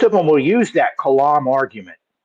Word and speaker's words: Kalam: The Kalama argument? No, I don't recall if I have. It's not actually the Kalam. I'm saying it right. It's the Kalam.